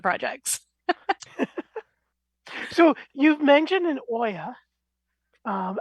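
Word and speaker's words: olla: that more great question it's o-l-l-a because it comes from the Spanish uh word for a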